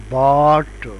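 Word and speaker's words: bought: आवाज ओ की है इसी तरह बाट में ओ यू जीी एच है लेकिन आवाज ओ की है और इसी तरह टॉक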